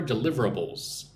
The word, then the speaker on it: deliverables: So what are deliverables? First of all, let's look at the pronunciation. Listen and repeat after me nice and slow. Du liveables. So, five syllables.